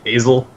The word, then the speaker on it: Asil: It's like a long A. Asil.